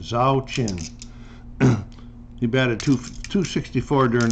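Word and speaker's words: Zauchin: boston is norm zakin i'll spell it z-a-u-c-h-i-n zhao chin he batted two 264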